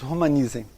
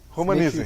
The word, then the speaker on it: Romaniszen: Nós pronunciamos Romanizem. Romanizem. Se abole o S. O S, né?